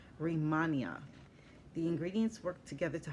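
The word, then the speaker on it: Rehmannia: it out r-e-h-m-a-n-n-i-a and looks like it's rimania the ingredients work together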